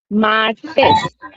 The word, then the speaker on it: martes: Tuesday, Tuesday रहेगा मार्टेस, और spelling रहेगी MARTES, और सभी कैपिटल स्मॉल लेटर्स में रहेंगे, ठीक। प्रोनाउंस क्या करेंगे? मार्टेस, मार्टेस, मार्टेस।